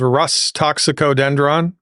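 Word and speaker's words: Rhus toxicodendron: First I'll say it and then I'll spell it. It's called Rus toxicodendron.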